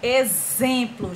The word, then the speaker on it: exemplo: taxímetro exportar e enxame a primeira palavra exemplo exemplo x com som de z um exemplo x com